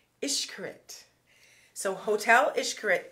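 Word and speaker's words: Xcaret: end-all is Hotel and it's spelled x-c-a-r-e-t but it's pronounced ishkarit so hotel is how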